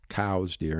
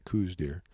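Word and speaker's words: Coues deer: a lot of their cows deer I'm going to say it correctly cows even though most people call it Koo Deer uh and a lot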